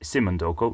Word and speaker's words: Somondoco: Modern Hotel real simonoko no I'm not pronouncing that wrong it is simonoko not Soko is a winner with